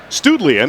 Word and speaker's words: Studlian: And in the past, it's always been pronounced Studline up front here. And now all of a sudden it's Studlian.